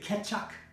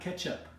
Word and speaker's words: Kecak: Can you say Kecak? That's right, not ketchup, Kecak.